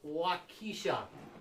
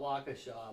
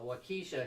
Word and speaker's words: Waukesha: we're right back in there it's somewhat by waukesha that's the proper pronunciation yeah the locals call it waukesha but wakisha she she would she would beg to differ